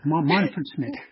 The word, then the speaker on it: Manfred Schmidt: It's called the Montford Schmidt series and it is basically That's how you pronounce it? Yeah. Yeah. Manford Schmidt.